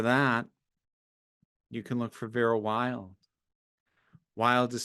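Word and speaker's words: Vera Wylde: And for that, you can look for Vera Wild. Wild is spelled WYLDE.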